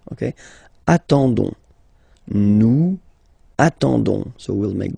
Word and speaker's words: attendons: nous, so O-N-S, okay, you don't pronounce the S, so you get only this on sound, okay. Attendons, nous attendons, so we'll make the link between the two, la liaison.